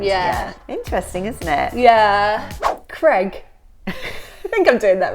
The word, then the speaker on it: Craig: I thought it was spelled C-R-E-G for ages, and then I saw it written down. It was Craig. Yeah, it was Craig. It was Craig all along, not Craig.